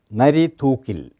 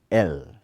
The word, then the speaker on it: Narithookil: Narithookil. Spell it. Narithookil.